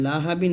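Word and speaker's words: لَهَب: হা বা দুই জের বিন লাহাবিন আছে এখানে থামলে হবে লাহাবে বা টা কলক হবে তাহলে হবে সায়াফলানা রং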